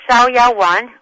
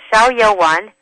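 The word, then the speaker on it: Xiao Yao Wan: It's called Shiao Yaoan, which is X I A O and then Y A O W A N. It's called Shiaoan.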